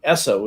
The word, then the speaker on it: Esso: the other companies had no territorial rights name esso is the phonetic pronunciation of the initials sno in the name